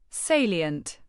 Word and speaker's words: salient: Salient. Pronounce it as say-lee-u-h-n-t. It starts with s a y and ends like silent with a small e e sound in the middle.